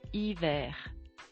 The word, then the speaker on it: hiver: And finally, winter in French, it's hiver.